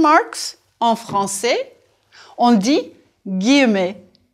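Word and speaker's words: guillemets: dit en quotation marks en français on dit guemet prononcez s'il vous plaît gu W youve looked at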